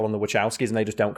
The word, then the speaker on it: Wachowski: For example, we talking about Speed Race, which is directed by the Wachowskis, or the Wachowskis. Some people pronounce it the Wachowskis.